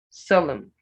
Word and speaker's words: solemn: scares not scars scares solemn solemn not swollen it's solemn square square it's not ski